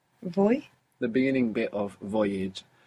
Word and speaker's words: voy: Voy? The beginning bit of voyage. And you're mostly going to hear it pronounced more like a soft B. Boy. Boy. Voy.